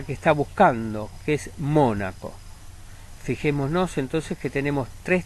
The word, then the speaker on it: Mónaco: Cólico es una palabra esdrújula igual que Mónaco.